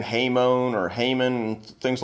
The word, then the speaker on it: hamon: Sometimes you hear people saying Hamon or Hamon, things like that. Hamon is how it's pronounced in Japanese, and so that's good enough for me.